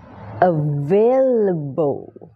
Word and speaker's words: available: a Kiss Men you Available อ่า ดี ๆ นะ เป็น เสียง A นะ เ a เ a Available นะ ชวา ชวา ด้วย